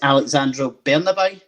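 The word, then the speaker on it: Alexandro Bernabei: and i know i'm going to get his pronunciation is alexandra bernabeu is that right yes exactly exactly yeah so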